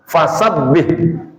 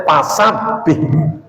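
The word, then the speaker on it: فسبح: Kayak orang Sunda itu ngomong fa pasti pa. Gitu kan? Bener nggak? Misalnya apa? Fasabbih. Bacanya pasabih.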